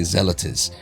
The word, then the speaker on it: Zelotes: is probably zealatus is probably the best way that I could say it so that you could spell it.